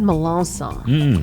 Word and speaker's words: Melancon: You know what also is nice is hearing my name pronounced perfectly. Oh, the correct way? For Melancon.